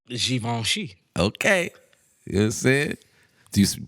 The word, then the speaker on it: Givenchy: what it is so how do you pronounce givenchy the sheep on she okay that's it do